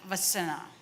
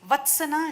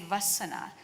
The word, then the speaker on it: Vassana: And I asked, so me and Bhagyesh, when we were talking, we said it's Vatsana, she said Vassana. So I asked, T is silent? She said yes.